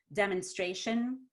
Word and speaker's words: demonstration: when we said um demonstration the m-o-n i didn't say demonstration it's demon so the m-o got reduced to m-u mun that's a reduced vowel oh look at that